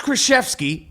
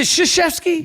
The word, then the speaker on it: Krzyzewski: Coach Krzyzewski, you call it Krr. It's sh. Is it Krzyzewski? Yeah, the K is silent. Says who? English law, right? Krzyzewski. Yeah, Krzyzewski.